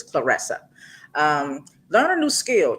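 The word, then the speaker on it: Claressa: I was saying Clarissa. Clarissa. Clarissa, but it's Clarissa.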